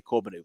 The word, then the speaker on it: Corbeanu: We have to say Corbeanu now, by the way. We're finding out these new pronunciations.